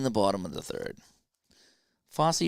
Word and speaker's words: Fosse: Fosse rhymes with Bossy.